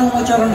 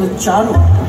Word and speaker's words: উচ্চারণ: ওটা আমার উমোচরণ হয় না। উমোচরণ নয়, বলুন উচ্চারণ।